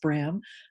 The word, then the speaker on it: Brahm: directed by john bram it's spelled like brahms but but pronounced brim um it's a film